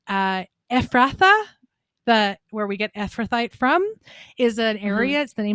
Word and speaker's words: Ephrathite: It says, what is the significance that Elimelech was an Ephrathite? Did I say it right? Ephrathite, yeah.